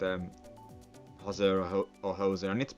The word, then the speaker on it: hoser: They're saying it's pronounced hoser, of course.